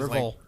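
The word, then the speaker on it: Rivalz: His name is Rivel. Rivel. Rivel. There yeah, we go. Rivel. But it's spelled like Rivals. rival with a Z at the end.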